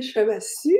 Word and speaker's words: Chevassus: Alors aujourd'hui, on va découvrir le feu sacré de notre artiste invité, Chevassu. J'espère que je prononce bien ton mot, ton Oui, nom. effectivement, le dernier S se prononce pas.